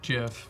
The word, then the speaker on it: GIF: happy acident he says I say Jeff because that's how the Creator pronounced it but my rebuttal to that is it stands for graphics interface format and graphics has a hard G so why should it not be gift I don't know you